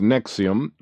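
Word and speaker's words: NXIVM: call the Vanguard nixim pronounced Nexium as Deep Pockets outposts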